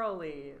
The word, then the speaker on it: Olli: charm or Olli tremor Olli rhymes with ravioli that's it he told